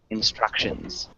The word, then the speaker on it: instructions: instructions perfect nice structure instructions so that sound is often like the shh instructions so you get this the hard c with a sound right after but really nice job